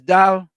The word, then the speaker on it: dal: It's dal. Why don't you pronounce it that, Tommy? Is that the wrong pronunciation?